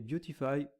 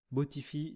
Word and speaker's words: Beautify: Maintenant, on va installer un plugin qui est très connu, qui est Beautify ou Botify si on le prononce à la française.